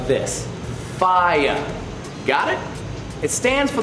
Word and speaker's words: FIEA: it's a fire SIA play it could be fee aya other people say it like this ah yeah that's it yeah yeah the correct way to pronounce it is just like this fire got it it stands for the Florida interactive